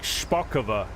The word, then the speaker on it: Szpakowo: I cannot speak Polish I can say sharova that's uh that's about it I had I had to Google that just to know how to say it it needs a whole